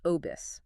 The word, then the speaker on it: OBSS: That is pronounced Obis.